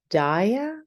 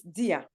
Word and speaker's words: Dia: It's Dia. It's actually my name is actually Dia, but it's a shortcut, so it's Dia. Dia. Dia. Oh, okay. Like Dia in Spanish. Yeah, exactly.